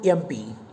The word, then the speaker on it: MP: Pronounce the word MP. What sound does it begin with? Again, it begins with the sound A, MP.